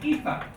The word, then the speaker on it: Aoife: So this is Aoife.